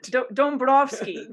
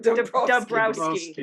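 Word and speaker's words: Dąbrowski: Oh, Dabrowski, Dabrowski. as it's written.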